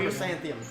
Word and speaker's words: chrysanthemum: How do you pronounce it? Jesus. Chlamydia. Nope. Oh, okay. It's fucking dyslexia, dude. Chrysanthemum? Chrysanthemum. Chrysanthemum.